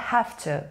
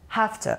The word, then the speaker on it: have to: اول نکته پرونانسیشنی بچه‌ها، have to توی محاوره هفته تلفظ میشه، هفته یعنی به این صورت.